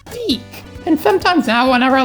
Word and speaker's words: DiC: animation company called de I think it was pronounced dick as a kid but it's actually pronounced de and sometimes now whenever I look at the